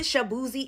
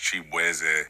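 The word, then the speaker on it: Chibueze: I'm Nigerian American, so my last name is actually pronounced shabooozey. And just growing up in Virginia, everybody just did not know how to enunciate my name. So they was just like, Shabooozey.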